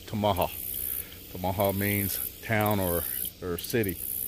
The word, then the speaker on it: Tamaha: A lot of Oklahoma folks around here in the local area calls it Tamaha. Guess how you want to pronounce it, but in the proper way of Choctaw is Tamaha.